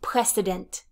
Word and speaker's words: precedent: noun form which is precedent precedent precedent this is not pres president this is press s precedent precedent is an earlier situation